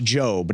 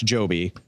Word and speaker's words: Jobe: It's Josh Jobe, not Josh Joby.